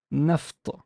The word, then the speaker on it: naft: So I would say naft, naft, naft, naft.